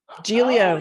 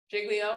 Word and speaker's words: Giglio: Well, Giglio is how I say it, but all right. Giglio is the New York way to say it, is my understanding. That. Giglio. There you go. That is the actual correct way to say it. Any other pronunciations of that word that anyone would like to shout out? Jiggly. Jiglio, all right, I came up with Jiglio, I'll admit that.